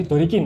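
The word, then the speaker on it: ドリキン: Iya, Dorikin. Kalau kita ngomong pelafalan secara lengkap kan Drift King kan kalau dilafalkan pakai Jepang kan terlalu panjang.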